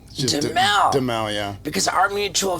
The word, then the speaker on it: Duhamel: Well, if you're in France, I think it's Duhamel, but we've always said Duhamel. Duhamel.